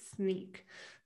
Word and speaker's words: Snyk: now it's registered that i have to pronounce it sneak so i won't get